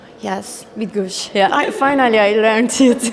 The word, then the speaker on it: Bydgoszcz: Can you please pronounce for us? Actually, I guess it's Bydgoszcz. Yes, Bydgoszcz.